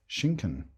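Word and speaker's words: Schinken: book thinking oh no chicken is pronounced hunchun pork is pronounced Shinken so we were getting exactly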